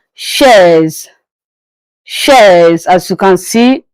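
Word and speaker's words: chaise: So chair in class in English but in French it is pronounced as shares.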